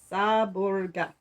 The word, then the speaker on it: Seborga: for pastry with cream pronounced gato saborga is pronounced saborga i live on a hill overlooking the sea